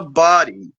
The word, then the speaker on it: Boddie: I don't know if I said Body. it the Yeah, it's body. pronounced body.